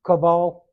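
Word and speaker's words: Chavvah: of all living the the hebrew word here is kaval c h a v v a h pronounced caval uh and it literally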